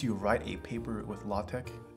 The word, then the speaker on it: LaTeX: Do you know LaTeX?